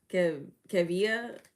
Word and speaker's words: Kevia: Kevia. Like Kev.